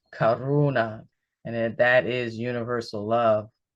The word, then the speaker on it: karuna: It almost sounds like Corona, right? But no, life's a beach, right? Here it's Karuna and that is universal love.